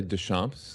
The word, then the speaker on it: Deschamps: Well, I say Deschamps in New England. That's what I normally would say. Somebody corrected me up here. So just Deschamps, welcome to the show.